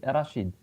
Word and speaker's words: Rachid: How do I pronounce your name? Uh, actually Rashid or Yeah.